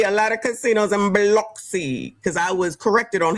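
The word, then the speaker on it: Biloxi: annunciate the word Beluxy cuz I was saying Bloxy and they was looking at me like I was crazy. It's it's pronounced Beluxy.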